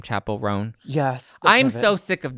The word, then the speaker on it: Chappell Roan: rone is that how you say her name Chapel rone yes I'm so sick of this chick okay